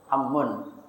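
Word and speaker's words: عمّ: Ummun sama amun beda ya. Ummun ibu. Ammun paman. Ini kan pakai hamzah dia. Dhammah lagi. Kalau paman ini ammun bacanya. Dia apa kalau dia apa enggak tahu kita bedanya mana. Ummun dhammah ibu artinya. Ammun fathah ain paman. Ini juga termasuk kalau dikasih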